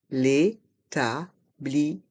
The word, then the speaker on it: établissement: L'établissement. Le T de l'établissement à la fin est muet.